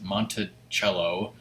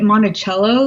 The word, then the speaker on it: Monticello: on the first floor I like to say it Monticello like it's like there's a H somewhere but there's actually not but that's just the